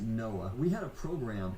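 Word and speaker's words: NOAA: Oceanic and Atmospheric Administration we pronounced it Noah we had a program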